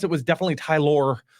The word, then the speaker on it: Tylor: the way definitely I assumed it was just pronounced Tyler it's t y l o r but the Met Ty it is the way they pronounced it was definitely tyor tyor Mill who started for the Mets on Sunday